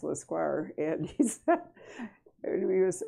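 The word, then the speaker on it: Lescroart: l-e-s-c-r-o-a-r-t it's a hard name uh and it's pronounced lasquar and he's when he was early on he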